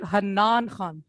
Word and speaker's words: Hannan: today and i want to make sure i'm pronouncing this right hanan khan correct it's more like hanan ah okay so correct yeah awesome uh this